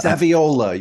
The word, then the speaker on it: Saviola: I can't pronounce Camille's last name, but Camille Saviola. Saviola.